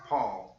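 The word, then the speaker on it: Pa'l: it with the apostrophe PA apostrophe L but it's pronounced Paul and Petro's it I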